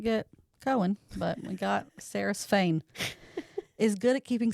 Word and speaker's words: Saeris: I do think it's Saris, but Fane. Fane? Yeah. Okay. I do think it's Saris too. Saeris.